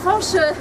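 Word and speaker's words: Fañch: Il a besoin de son tilde puisque Fanche en breton c'est avec tilde pour qu'on puisse se prononcer comme il se doit.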